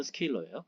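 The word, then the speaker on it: scalar: 그래서 그냥 벡터 에디션 더하는 거랑 스칼라 영어 발음은 스케일러예요.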